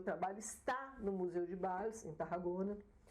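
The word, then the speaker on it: Valls: A cidade de Bals, escreve com V, Bals, pronuncia Bals em espanhol.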